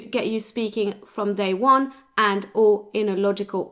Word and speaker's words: on: It's a nasal vowel sound. So don't pronounce the N separately, because it just makes one vowel sound.